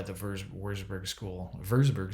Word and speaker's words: Würzburg: verge of warsburg school verseburg school would actually be the right way to say it but the wurzburg school we are starting